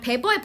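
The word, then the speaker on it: Weber: 그래서 W가 B로 발음이 되는 겁니다. 괜찮죠? 그래서 여기 요약문은 그냥 베버의 법칙에 대해서만 한번 써볼게요.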